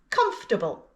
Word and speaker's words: comfortable: And our third word with a silent syllable is comfortable. 3 syllables. Comf-ta-ble. Comfortable. Comfortable. And the written form? Again, it looks like it's got 4 syllables, but we only pronounce 3. Comfortable.